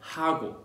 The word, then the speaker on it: 하고: Okay, so what is 하고? Okay, it sounds like Hugo Boss, that brand, but it's not.